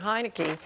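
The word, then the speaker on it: Heinicke: That announcement came just hours after starting quarterback Taylor Heineke tested, I'm sure I just mispronounced his name.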